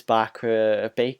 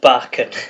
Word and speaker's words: Barker: Great article by Chris Baker at the minute. Sorry, I pronounced his name wrong. Barker.